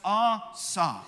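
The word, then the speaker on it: עשה: The word make is our verb, and that is pronounced asa, asa. And so understanding this word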